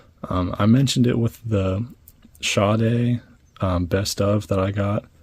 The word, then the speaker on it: Sade: I mentioned it with the Sade best of that I got, which, yeps, I am pronouncing it correctly now.